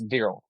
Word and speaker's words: Viral: your first name right almost it's veral ver got it all right